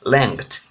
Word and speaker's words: length: It is pronounced, it is length.